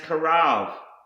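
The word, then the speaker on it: קרב: The next word I want to show you is pronounced karav, and this is to come near, approach, to draw near, enter into.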